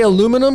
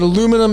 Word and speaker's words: aluminum: aluminium i may say aluminum because it be it can be i was actually raised with we're pronouncing it aluminum it's pronounced both ways but properly through the